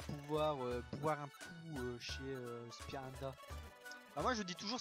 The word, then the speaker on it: Spinda: On va pouvoir boire un coup chez Spinda. Ah, moi je dis toujours Spinda. Alors c'est pas Spinda, c'est Spinda. J'ai toujours appelé ce Pokémon Spinda. Mais c'est vrai que c'est Spinda.